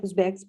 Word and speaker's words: Uzbeks: And after them goes Uzbeks. Am I right? Uzbeks pronouncing it? Mm-hmm. Yes.